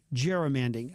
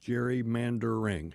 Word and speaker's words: gerrymandering: So, the Republicans in Texas want to do some um germanding. Is that how you pronounce it? Jerry mandering.